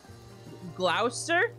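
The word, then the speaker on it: Gloucester: this night paline names glower Glouster half the the word is silent that is an extreme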